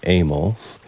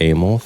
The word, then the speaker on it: AMOLF: Mood Swings in Bacteria, put out by AMOLF, which I'm pronouncing Amos, and they are in the Netherlands.